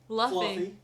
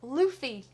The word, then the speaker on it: Luffy: adventure but luffy luffy luffy what i say lovely i didn't say fluffy he said luffy it says luffy it's pronounced luffy i ain't french it's